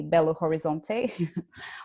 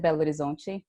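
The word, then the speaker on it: Belo Horizonte: this city called bello the gringo way of saying it i guess would be bello horizonte we pronounced that belgian most people never really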